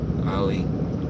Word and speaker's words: Ali: A, short sound. Ali.